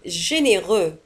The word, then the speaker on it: généreux: لاحظوا على أن généreux تنتهي بX ولا تنطق.